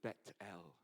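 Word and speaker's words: Beit El: the Gate of Heaven he called that place bethl in Hebrew and if you go there now it you pronounce it as betel betel means the house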